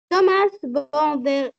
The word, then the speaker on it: Thomas: Thomas Bandernier, Thomas, on ne surgit.